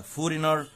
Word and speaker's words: foreigner: و native محلي عكسها foreigner و g silent foreigner يعني أجنبي و stranger